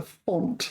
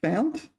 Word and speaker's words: fount: Is it found? Font. Oh, it's both. Font and found.